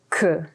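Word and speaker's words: queue: really something so number eight is the word ku ku in english means tail but it also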